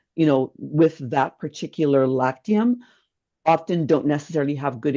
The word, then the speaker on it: Lactium: Can you just pronounce it slowly for me? So, it's called Lactium.